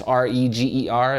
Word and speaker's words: Reger: rer and that's r e g e r it rhymes with eager so it's eager Reger